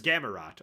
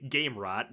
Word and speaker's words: Gamarrot: This is Gamarrot or as I keep wanting to say, Gamerot because that's how it's spelled.